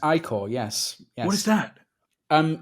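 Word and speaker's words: ichor: wicked pale cantus no i call i-c-h-o-r it's pronounced i call yes what is that um it's like uh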